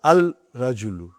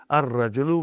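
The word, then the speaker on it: الرجل: Rajulu the man not Al Rajulu huh it will be wrong to say Al Rajulu it will be Al Rajulu we won't pronounce laam why because it is a sun letter huh and then brother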